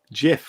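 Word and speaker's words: GIF: Lord Vale says, I pronounce it Jiff with a J.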